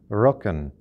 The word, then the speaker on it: Röcken: Friedrich Nietzsche was born the 15th of October, 1844, in a little Prussian village named Röcken. According to Google Translate, that's how that's pronounced.